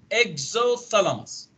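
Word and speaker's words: exophthalmos: كمان من الابنورمال فايندينجز انه يكون البيشنت عنده اكزوثالاموس، هيك تلفظ البي سايلنت اكزوثالاموس، زي اللي هو جحوظ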